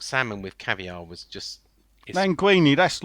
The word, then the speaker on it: linguine: with caviar was just linguine that's like squid in it no languini is a it's a pasta i thought that was linguine yeah it's linguine did i say languini